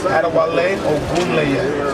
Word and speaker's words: Adewale Ogunleye: How do you actually pronounce my name? My name is Adewale Ogunleye.